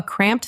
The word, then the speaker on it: cramped: It is just one syllable, one part. Cramped. It can be tricky. Let's say it slowly. Cramped. Cramped. Make sure you can hear the P and the T.